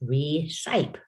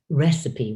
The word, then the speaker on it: recipe: If you use all of your decoding skills you learned in K1 and 2, you're going to say recite. Recite. Problem with recite is that you won't recognize recipe in it. So I had to teach them the pronunciation.